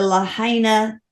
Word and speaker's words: Lahaina: Today's topic is the Lahaina fires. We think that's how you pronounce it. He says that's correct.